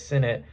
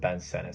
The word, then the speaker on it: Sinnett: And I know some people are going to say it's Sinnett. That's how it's, spelled. But he says you pronounce it Ben Sennett.